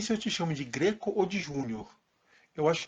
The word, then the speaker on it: Greco: Eu nunca sei se eu te chamo de Greco ou de Júnior. Eu acho que é melhor chamar de Greco. A pronúncia mais típica do meu sobrenome é Greco. É agudo. É agudo e não fechado.